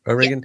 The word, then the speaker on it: O'Regan: Is that am I pronouncing it right? O'Regan.